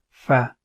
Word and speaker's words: ف: alphabet it is called it is pronounced as fa and the sound is f so the second part the